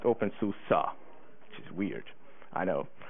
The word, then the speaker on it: openSUSE: And he said it's pronounced OpenSUSE, which is weird.